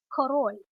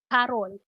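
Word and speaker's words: король: Now, there is another Russian word for king, and that's korol. Karol. Karol. Now, it sounds a lot like the name Karl, right? Well, that's because the first king the Russians met was Karl I.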